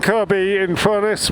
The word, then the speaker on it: Kirkby-in-Furness: So we're now in Kirkby-in-Furness with a silent second K, and here is Moreland's service station, which is where Aussie Moto had his surgery.